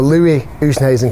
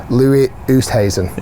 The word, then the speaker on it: Louis Oosthuizen: So Louis Oosthuizen came out here and shot 1 Actually, under.